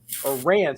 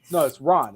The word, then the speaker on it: Ran: a sealed copy of Ran. Sorry, it's Ron. It's supposed to be pronounced R-A-H-N. 4K.